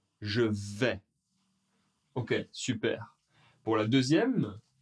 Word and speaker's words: vais: Allez, pour la première personne, je vais. Je vais. Alors, le premier S, on entend bien, il n'est pas prononcé. Le A et le I, ensemble, font le son est. Je vais.